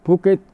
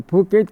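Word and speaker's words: Phuket: तो फुकेत क्या है, ये भू क्षेत्र, वहाँ भ को फ की तरह से उच्चारण करते हैं।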